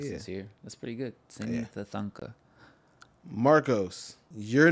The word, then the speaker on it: Sini: You are Sini Thanthanka. Mm. Is that how you pronounce it?